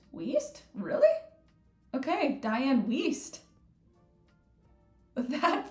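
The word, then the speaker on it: Wiest: a wonderful job um but yeah oh it's pronounced whis whis really okay Diane whis that feels so weird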